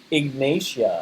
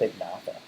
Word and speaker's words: Ignatia: Ignatia. I Yeah. said Ignata. Ignata, there's an I in it. Ignatia makes sense, yeah. Yeah. Like like it's almost like igneous rock, Ignatia. It's like igniting, Ignatia.